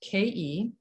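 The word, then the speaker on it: khei: is the vowel sound ke it's spelled k-h-e-i and pronounced ke and it also helps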